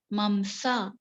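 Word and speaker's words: मांस: The pronunciation mamsa.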